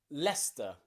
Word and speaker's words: Leicester: that's it okay recent there are places like leicester and gloucester and worcester okay and nearly all of these you have a c in them that is completely silent okay lester you might know the